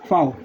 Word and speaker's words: Vau: वी को इसमें लिखते हैं वाओ, फाओ, फाओ, फाओ। वी को लिखते हैं फाओ, FOW। ये बोलने में फाओ है पर लिखने में आता है VAU, फाओ।